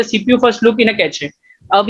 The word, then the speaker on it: cache: Okay चलो, let's start with कैचे memory. Pronounced as cache, the cache memory is a special high-speed storage mechanism.